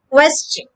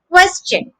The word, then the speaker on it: question: your lips quests quests the second syllable is ched like chin so the word is question question of course the opposite